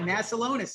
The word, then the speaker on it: Masiulionis: to try to pronounce his name again, but Masiulionis. Okay, got it. There we go. I think I got it. Did I nail it, John? Okay. You got it, Masiulionis. You got it. Masiulionis.